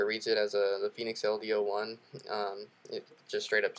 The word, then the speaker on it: Fenix LD01: That's a 01, not the letter O, but pronounced Fenix LD01.